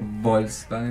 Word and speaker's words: Volkswagen: Pero pará, Volkswagen, ¿no es también de Volkswagen? ¿Qué te dicen? Tenés que pronunciarlo así. Sí. ¿No? Volkswagen. Como así. Volkswagen. Como pronuncia yo.